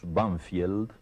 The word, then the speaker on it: Banfield: Sí, en uno de los suburbios de Buenos Aires que nosotros pronunciamos Bfield, pero que tiene un nombre inglés, Banfield, y ese nombre inglés